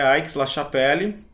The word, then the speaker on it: Aix-la-Chapelle: uma grande Capela né Então é aix-la-chapelle eu seria a pronúncia francesa mas essa cidade também